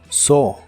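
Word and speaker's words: saw: lo que alguien hace el pasado se pronuncia como so so el verbo so en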